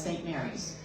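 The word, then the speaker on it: St. Maries: Yes, and it looks like it is pronounced St. Marie's, and yet inside Young Living, everybody says St. Mary's. So I do not know why, because it does look like Marie to me.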